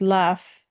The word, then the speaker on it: lof: well as the Old Norse, spelled LOF but pronounced laf, which is said to have been a word used for praise and approval.